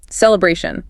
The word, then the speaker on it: celebration: That follows the deliberation rule. Third syllable. Celebration. Feel that a sound lengthen a bit.